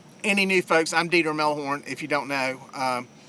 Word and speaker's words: Melhorn: I'm Dieter Melhorn. That's how you say it. It's a German name.